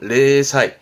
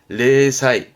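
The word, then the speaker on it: 零細: 발음은 레사이 레사이 영락 영락이라 함은 뭔가 몰락을 의미했던 부분도 있었습니다.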